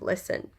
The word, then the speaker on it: listen: alongside with listen to the silent T in the word listen getting us to pause